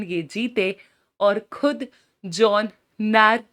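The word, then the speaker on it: Gnarr: जिसके फाउंडर हैं जॉन ग्रैर। जी साइलेंट रखेंगे तो जॉन नैर और ये जो है एक कॉमेडियन थे।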